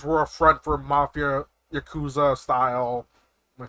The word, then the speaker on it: Yakuza: It's basically like if May cafes were a front for mafia yakuza style. Am I pronouncing that right? Yakuza. Yeah. Yakuza.